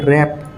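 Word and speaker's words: wrap: ST wrist W silent যেনকার রেপ ডবলিউ আর এ পি রেপ W silent root W আর ওটিই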